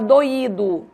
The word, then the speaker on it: doído: a diferença pela acentuação em doido eu não acentuo eu pronuncio como de tongo em doído eu acentuo o i e aí eu pronuncio como iato certo esse assento ele é